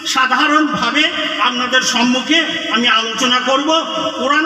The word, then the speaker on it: আল্লাহ: ইংরেজিতে বলা হয় এনালাইসিস তো আল্লাহটা আসলে ছিল আলা তো সেটাকে তাসদিদ ব্যবহার করে আল্লাহ বলা উচ্চারণ সহজ জন্য তো আল্লাহ বললেন হে